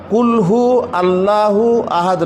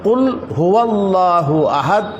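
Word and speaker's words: قل هو الله أحد: এটা হচ্ছে সঠিক উচ্চারণ কুলহু আল্লাহু আহাদ নয় বরং কুল হুয়াল্লাহু আহাদ এটা হচ্ছে সঠিক উচ্চারণ।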